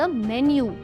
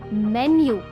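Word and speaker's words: menu: है आस्क फॉर द मेन्यू। अगर आप भी इसे मेनू प्रोनाउंस करते हैं तो प्लीज अपने आप को अभी के अभी करेक्ट करो। इट्स नॉट मेनू इट्स मेन्यू।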